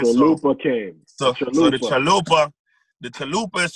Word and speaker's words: Traloopa: So I said, okay, I'm gonna spell it the same way, TR, but I'm gonna say ALOOPA, Traloopa.